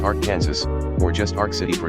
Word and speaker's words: Arkansas: expected and then there's Arkansas City a small town in Kansas pronounced Ark Kansas or just Ark City